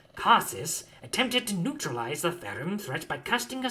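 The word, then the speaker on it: Phaerimm: a pronounced um uh it's spelled p h a e r i m m therim and i'll spell that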